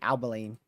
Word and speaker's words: Abilene: Abilene. Got it. Abilene. So Abilene? So is it Albin? Abilene.